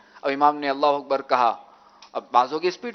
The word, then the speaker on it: اللہ اکبر: امام کے ساتھ اگر ہم تکبیر تحریمہ کہیں تو اللہ اکبر، یعنی اکبر بھی، لفظ اکبر بھی امام کے اکبر کہنے کے بعد کہنا ہے.